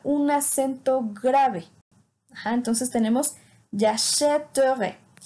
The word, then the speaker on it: j'achèterai: Entonces tenemos j'achèterai. Si no le pusiéramos este acento grave, la pronunciación sería muy complicada. Sería j'achèterai, y eso no existe.